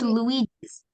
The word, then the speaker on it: Luigi's: It's pronounced Luigi's.